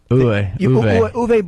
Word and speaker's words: Uwe: How do you say, Uwe or UV? Uwe Boll.